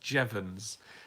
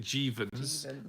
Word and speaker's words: Jeavons: you pronounce it Mike my surname is pronounced Jevons everyone pronounces it jeevan's and those people are incorrect York do the Ghostbuster